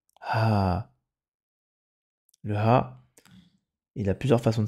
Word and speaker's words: ه: Et le ha tout seul, la lettre ha, elle fait le son ha, ha.